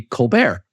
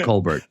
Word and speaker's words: Colbert: and it was cold he wanted to be Colbert you know the French pronunciation of the name and his father said